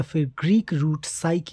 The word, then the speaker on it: psych: भी English word हो उसमें पी साइलेंट क्यों होता है पी लेटर साइलेंट क्यों होता है और इस सवाल का जवाब हमें मिलता है साइक के ग्रीक रूट से साइक एक ग्रीक लैंग्वेज